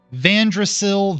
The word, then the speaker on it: Vandrasil: Vandrasil, the World Tree. I think I just captioned tree with tree. And Vandrasil is spelled Vandrasil.